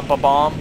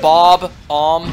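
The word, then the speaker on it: Bob-omb: follow me B bomb does anyone else always just Pro pronounce bomb like that A B bomb instead of Bob om yes and just going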